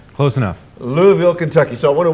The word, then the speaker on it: Louisville: Pastor Ben, who is also a pastor from Louisville. Did I say it right? Close enough. Louisville, Kentucky.